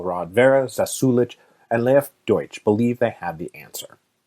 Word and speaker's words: Deutsch: And while I'm here, I should say that I receive both praise and concern over my pronunciation of Deutsch. Some people said, "Yeah, you nailed it." Other people said in Russian, it would be more properly de.